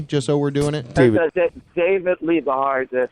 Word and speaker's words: David Liebe Hart: David Liebe Hart. Liebe you know, Hart. Love Hart Liebe in Hart. German.